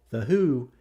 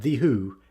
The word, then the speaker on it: The Hu: folk metal band in this world, folks, called The Hu, the h u, not The Who, h u is the way you pronounce it, released a Mongolian-language version of The Trooper on their EP of the same name.